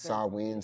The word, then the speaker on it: Samhain: Samhain is Sawin, some shit like, the yeah. pronunciation. I think. Sawin. That's Yeah. what Google's just yelling.